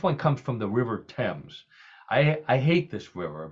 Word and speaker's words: Thames: week now next one comes from the River Thames I I hate this River because it's spelled t-h-a-m-e-s Thames Thames is what it should